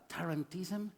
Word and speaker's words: tarantism: let's spell it out tarantism sounds like Toronto indeed the disease was around the city of Toronto in the southern tip of Italy and Toronto sounds like tarantula the region has a